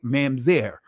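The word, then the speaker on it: mamzer: right Mama's are right the ancient pronunciation of this word or manzer right manzair which means born of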